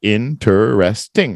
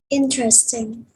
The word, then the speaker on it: interesting: can say interesting right if you look up the the phonetics or the phonics on it it's going to be interesting right four syllables but most people say it how interesting interesting they kind of skipped the interest interesting that's right just